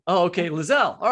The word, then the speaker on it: Liselle: ask the author, like, so is it, you said Liselle? Is that what you said? Because I was saying Liselle the whole time. No, I said Liselle. Oh, okay, Liselle.